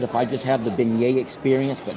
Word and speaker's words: beignet: It sounds like baget, but it's beignet.